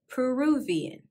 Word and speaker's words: Peruvian: from peru are called peruvian peruvian we inserted a v after peru peruvian now we're going to